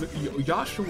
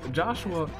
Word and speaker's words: Joshua: mistaken about my name proper pronunciation is yahshua or my for my first name is my last so uh joshua is not exactly accurate this is not the